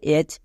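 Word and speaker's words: edge: এবার এখানেও D silent, কেন? কারণ জি এর আগে আছে, তাই ডি সাইলেন্ট।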